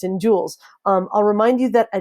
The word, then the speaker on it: joule: for Newton meter is also known as a Joule jou le jou le is how it pronounced that so the units of work and